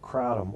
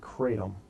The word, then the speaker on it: kratom: Uh, Matt, we're talking about something called kratom, or some pronounce it kratom, and it's a leaf